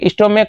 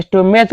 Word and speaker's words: stomach: सी एच का उच्चारण देखिए, सी एच का उच्चारण जो है यहाँ सी एच, इसका उच्चारण को हो रहा है।